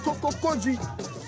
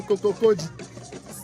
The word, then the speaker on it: Kokokodi: La famille des Kokokodi. Kokokodi. Avant, j'avais du mal à prononcer ce mot Kokokodi. Moi, je disais Kokoko. Kokokodi.